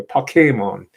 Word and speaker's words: Pokémon: It's the accent on the second syllable by the way, Pokémon.